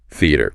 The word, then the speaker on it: theater: trips people up okay is theater theater make sure you're emphasizing the first syllable okay you litter the